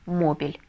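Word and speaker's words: móvil: последнее слово последняя последнее слово это мобильный по-испански читается как мобиль El Mobile и совершенно верно ударение мы ставим на первый слог Потому что если не поставим то получится мобиль все дорогие друзья вы большие Молодцы если дослушали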